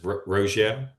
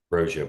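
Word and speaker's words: Roggio: and is your is your last name pronounced roio that's correct roio bill welcome in uh we'll start with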